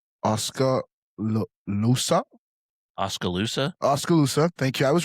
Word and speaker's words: Oskaloosa: I can't pronounce Oskaloosa. Oskaloosa.